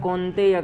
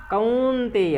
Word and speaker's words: कौंतेय: मात्रा स्पर्शा स्तु कौंतेय बहुत सारे लोग कौंतेय कहते हैं कौंतेय है कुंती में जो उत्पन्न हुए कौंतेय तो मात्रा स्पर्शा स्तु कौंतेय यहां या का भी पूर्ण उच्चारण करना है मात्रा स्पर्शा स्तु कौंतेय